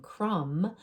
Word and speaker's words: crumb: But notice in what I want you to see in these 2 words, limb and crumb, that we don't hear that B sound. That B is a silent. It's our ghost letter.